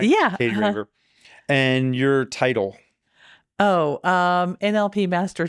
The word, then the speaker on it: Katie Raver: Katie Raver. Is that how you pronounce it? Am I pronouncing it right? Yeah. Katie Raver.